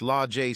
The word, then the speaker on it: Lage: Now, at 18 years old, Sage had 2 sisters, Age, pronounced Ajay, and Lage, pronounced Lajay Smith, and 2 brothers, Fremont, pronounced Fremonte, and Tremont, pronounced Tremonte Jones.